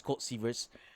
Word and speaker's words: Colt Seavers: I mispronounced his last name, so it's Colt Seavers.